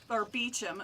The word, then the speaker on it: Beauchamp: My last name is pronounced Beecham, but no one even knows how to say it.